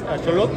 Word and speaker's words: Axolotl: Estamos con José Olvera y su criadero, ya lo tenemos, es Axolotl. Axolotl Tejota. Así es. Pronunciado en náhuatl, como debe de ser.